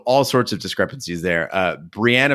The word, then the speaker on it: Brienne: sorts of discrepancies there Brienne of Tarth is Brian which is really hard to say we also got some